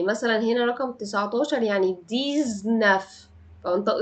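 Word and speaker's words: dix-neuf: بس مركبه يعني مثلا هنا رقم 19 يعني ديزنافطق ز ديزناف 18 يعني ديز ويت فبنطق الاكس هنا ز ديز ويت ويت ويت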